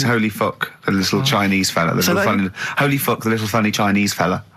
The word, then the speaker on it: Holy Fuck: Please, can we have more Holy Fook? You're not pronouncing it right, I Steve. know. I was just a bit edgy there. It's Holy Fuck, the little Chinese fella.